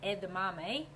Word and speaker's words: edamame: What they say about this, it's if you don't know how to pronounce it, it's pronounced edame, which is um plant-based protein.